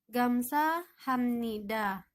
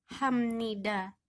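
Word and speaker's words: 감사합니다: Artinya terima kasih Nah di sini ada huruf di bawah dibacanya bukan HP tapi menjadi Hamnida Kenapa ini karena ada aturan untuk diet kalau dia bertemu dengan nian maka akan dibaca seperti huruf M ya jadi bacanya Hamnida saya akan coba memperkenalkan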